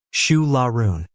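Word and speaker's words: Siúil a Rúin: It's called Su Larun, pronounced Shu Lau.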